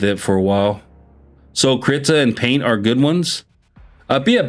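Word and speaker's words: Krita: It's called Crita. So, it's spelled K.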